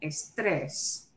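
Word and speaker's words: estrés: very end instead okay the way we pronounce the word breaks that rule so i must write in the accent mark on the last e of estress okay this is done so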